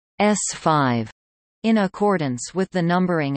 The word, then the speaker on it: S-V: the Saturn V rockets under the designation SV, pronounced S5.